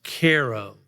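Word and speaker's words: Cairo: to a a little town called Caro Illinois Koo is spelled c AI c a i r o like the city in egyp Egypt but as I quickly found out it's pronounced Koo um I went there to report for the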